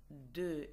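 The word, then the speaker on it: deux: 10 دي اي اكس، 2 دو دي او يو اكس، لا ينطق الاكس، اوكي زي ديس، هون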